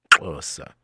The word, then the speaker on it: Xhosa: Pronounce with me, Xhosa. Not Xhosa, not Xhosa, but Xhosa.